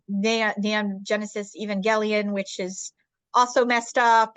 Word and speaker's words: Evangelion: I mean, and you mentioned, I mean, Evangelion, if I'm pronouncing it right. Evangelion, yes.